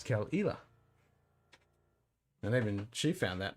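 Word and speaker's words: Caol Ila: same kind of spelling you would pronounce it Kell Ela but it's not I'm sorry not kill Isla but it's kel'ila and even she found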